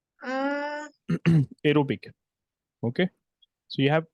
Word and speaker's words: aerobic: Uh aerobic. Okay. So you have aerobic respiration and anorobic respiration.